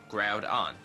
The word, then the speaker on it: Groudon: pokemon's name right gr groud like ground but without an n groud on groudon i'm saying that